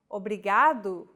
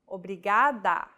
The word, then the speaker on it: obrigado: here in lesson two don't pronounce it like an English R don't roll your tongue listen to how Anna is pronouncing this sound the think of the quick tapping motion your tongue makes as it strikes the top gum Ridge in words like ladder or butter y altogether it's foreign